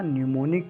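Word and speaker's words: pneumonic: जो मैंने बोला था न्यूमोनिक प्लेग यहां पर पीस साइलेंट रहता है इसको कहा जाता है न्यूमोनिक प्लेग पढ़ा जाता न्यूमोनिक प्लेग लिखा जाता है पींठ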